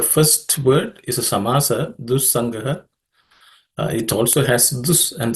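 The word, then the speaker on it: दुस्सङ्गः: In terms of pronunciation, for the first word, Dussangah does not have any aspirated consonants.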